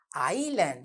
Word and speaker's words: island: We have a silent S letter. Island. I-S-L-A-N-D is the word island.